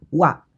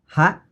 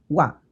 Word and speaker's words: は: dulu partikel waktu itu ditulis dengan grup hiragana ha tapi sebagai partikel dia dibacanya uap jadi nanti jangan kaget ya kalau ada kalimat pakainya hak tapi dibacanya Wah Nah partikel wa ini